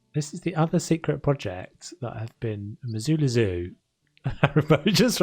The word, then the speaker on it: Missoula: So welcome to Missoula. So this is the other secret project that I've been Missoula Zoo. It just reminded me to say Missoula Zoo and not Missoula.